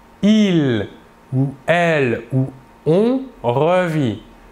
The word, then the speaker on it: revit: Je revis, tu revis, il ou elle ou on revit. Toujours la même chose, le S et le T final de la terminaison ne se prononcent pas mais s'écrivent.